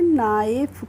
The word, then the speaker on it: knife: तो इसको हम पढ़ेंगे नाइफ, क्या पढ़ेंगे, नाइफ पढ़ेंगे।